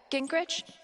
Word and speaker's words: Gingrich: Gingrich?